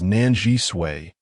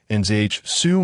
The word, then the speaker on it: Nan Zhisui: The name of that female was Nan Zhisui, 3 syllables long.